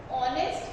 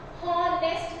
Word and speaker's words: honest: और ऑनेस्ट में बेटा देखिए एच साइलेंट है, हम हॉनेस्ट नहीं बोलते हैं, है ना, ये जो एच है इसको हम साउंड नहीं करते हैं। राइट, ऑनेस्ट को हम HONEST को कैसे प्रोनाउंस करते हैं, ऑनेस्ट यानी ऑनेस्ट करते, एच को प्रोनाउंस नहीं करते, हॉनेस्ट नहीं बोलते, ऑनेस्ट Moving to the fourth